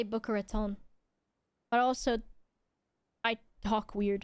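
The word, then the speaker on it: Boca Raton: As a native Floridaian, how do you pronounce Booker Raton like that? I say Booker Raton, but also I talk weird in comparison to other people.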